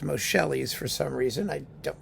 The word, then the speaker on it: Moscheles: Now, Moscheles, who I always pronounced Moscheles for some reason, I don't really care.